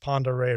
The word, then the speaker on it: Pend Oreille: That's pronounced Pend Oreille River.